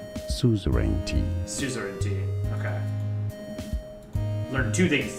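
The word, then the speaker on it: suzerainty: Suzaranti how to pronounce break it down. Soup based on the f suzarenti.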